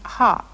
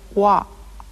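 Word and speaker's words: は: you've already learned that this letter is pronounced ha but it is also used in sentences to represent the grammatical particle wah wah wah Honda's kanuha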